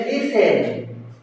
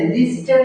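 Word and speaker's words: listen: করেন গৃহিণ তারপরে আছে লিসেন এল আই এস এল আই এস টিই এন লিসেন এ লিসেনটা টিটা উচ্চারণ হবে না লিসেন লিস্টেন অনেকে করে কিন্তু লিসেন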